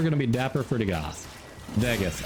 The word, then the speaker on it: Dagath: Dagath, actually. We learned the actual pronunciation is Dagath.